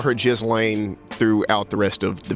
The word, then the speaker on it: Ghislaine: I know her name is actually pronounced Ghislaine Maxwell, but I just think it's kind of funny that people call her Ghislaine, given how appropriate, all of this mess is.